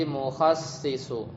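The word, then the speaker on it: مُخَصِّص: Nah, bacanya bikasri shadi. Shadnya itu di kasroh, jadi mukhassisu.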